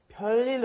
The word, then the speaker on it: 별일: You're not saying 별일. It looks like you're saying 별일 없었어요, but no. You're going to pronounce it as if there was two lils there, lil and lil connecting, so it's going to be a long L.